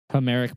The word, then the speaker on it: Homeric: how you say it homeric poems homeric poems like Homer yeah h o m e r i c yeah like Homer yeah I was just